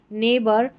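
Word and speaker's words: neighbour: यानी कि ई आई जी एच को ए पढ़ते हैं। तो यहां पर है एट इ आई जी एच है। एट वेट नेबर और यह है फ्रेट और यह है स्ले। तो यहां पर ई आई जी एच इ आई जी एच ए की ही ध्वनि देता है ये नंबर 18 पर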